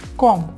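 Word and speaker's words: comb: claim থাম এটা হচ্ছে কম কম মানে হচ্ছে কি কম মানে হচ্ছে চিরণী সো এখানে বিয়ের উচ্চারণ হবে না কম পর্যন্ত থাকবে এখানে দেখুন টম টম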